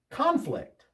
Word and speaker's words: conflict: Conflict. The first syllable is stressed. Conflict is a noun. When two people don't agree on something, they have a conflict with each other. Conflict. Conflict. The accent on the second syllable, that's the verb.